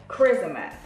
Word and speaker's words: Kryssma: is by the company chrissama i believe i want to say it correctly but i'm going to show you guys yeah charisma so it's it sounds like my name honestly but yeah